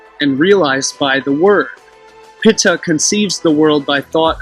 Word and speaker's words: Ptah: the deity called Ptah, or Ta, if you use the silent P, Pitta, which was phonetically pronounced Pitta, and I'll portray how